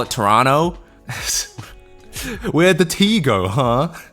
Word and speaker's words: Toronto: Canadian accent yeah oh stop pronouncing the second T in Toronto it's pissing me off what you just call it Toronto where' the te go